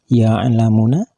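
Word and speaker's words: يعلمون: Dan kalimat ya'lamuna, bila dihentikan membacanya maka harus dibaca ya'lamun panjang 3 alif atau sama dengan 6 harkat karena kedudukannya berubah menjadi mad arid lisukun.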